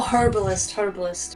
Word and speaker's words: herbalist: Oh, herbalist. With an H. Herb, whatever. Herbalist, yeah. Okay. We don't pronounce the H here.